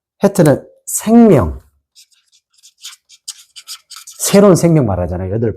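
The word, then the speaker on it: חית: 해트입니다. 해트. 자, 우리 앞에 한번 해가 있었죠. 발음이 비슷하죠? 그래서 해트는 비슷해요. 기억했다가 자, 보이시나요?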